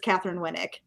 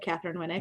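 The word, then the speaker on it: Katheryn Winnick: Yeah, no, you said something else, but it's Catherine Winnick from Vikings, yeah. Yeah. I thought I said Catherine Winnick. No, you mispronounced her name.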